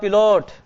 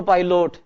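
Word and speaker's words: pilot: और ये पिलोट नहीं है, ये पाई है, PI, पै प्लस आई बराबर बोलो पाई। और LOT को लोट मत बोलो, पाइलोट, इसको बोलो लट।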